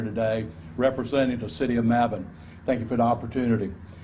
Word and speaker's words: Mebane: And so early on, I needed some pronunciation assistance, and Mac Williams was happy to tell me that I was pronouncing the next city incorrectly. So thankfully, I'm able to not embarrass myself when I introduce Ed Hooks, who is the mayor of the city of Mebane, to the microphone.